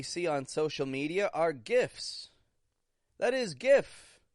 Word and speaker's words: GIF: to make that one just a regular G consonant for that g kind of sound G GIF GIF G is short